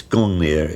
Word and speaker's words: Gungnir: We think that perhaps it might have been pronounced in those days Ungungnir, maybe. It's Gungnir in historic times.